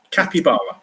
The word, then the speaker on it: capybara: Yeah, it's spelled Capybara. Capybara.